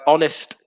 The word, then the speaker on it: honest: um another one with silent h uh honest yeah it's a good